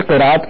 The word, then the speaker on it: قراءت: ہے اس بندے کی۔ اصل یہ ہے کہ قراءت ہے عربی کا لفظ، اور جو عربی کا لفظ اس کو عربی تلفظ نہیں پڑھا جائے گا، یہ اصل میں قرت بن جاتا ہے ہمارے اردو کی وجہ سے، کہ اردو میں چونکہ